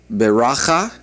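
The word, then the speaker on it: ברכה: The word for blessing is beracha. Beracha. And the word for law, as we've already pronounced it several times, and you're familiar with that, is Torah.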